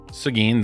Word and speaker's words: Seguin: Yep, Seguin, that's how you say it apparently.